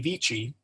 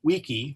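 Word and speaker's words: vici: it in classical Latin so we go back to the V VI vichi which In classical Latin is wany weedy weaky remember all C's Are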